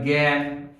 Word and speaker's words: জ্ঞান: জয়ে ইয়গ, জ আছে ইয় আছে, কিন্তু কোনোটির উচ্চারণ না হয়ে গয়ের উচ্চারণ হবে, সেজন্য এটিকে বলে থাকি জয়ে ইয়গ। তাহলে এটি দিয়ে আমরা লিখতে পারি জ্ঞান, বিজ্ঞান, এরকম কিছু শব্দ আমরা লিখতে পারি।